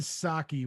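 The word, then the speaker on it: Psaki: to infuriate it's gen saki with a silent p at the beginning that's okay anyways so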